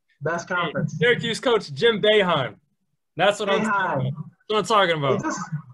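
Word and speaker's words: Boeheim: conference syracuse coach jim baehan that's what i'm talking about it does not look like how it's spelled no jim beijing let's go all right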